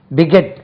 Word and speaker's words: beget: பிகெட், second syllable stress, BEGET, beget, beget, begot, BEGOT, begot, begot, GOT, begot, begetting, BEGETTING, double T இருக்கா பார்த்தோம்.